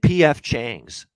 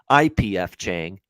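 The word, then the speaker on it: P.F. Chang's: purdue fort wayne think pf changs you know the freaking uh food chain in the united states when you're pronouncing it pf chang you know it's not ipf chang it's just pf chang yeah there you go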